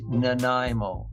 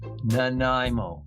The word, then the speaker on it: Nanaimo: Listen carefully, everyone. It is Naimo. Nimo.